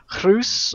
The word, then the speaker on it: Reus: I asked their representative, whose name's pronunciation equally eludes me, about the pronunciation of Reus, and I'm told it's pronounced. I'm probably still going to butcher it, but it's closer to Groes or something.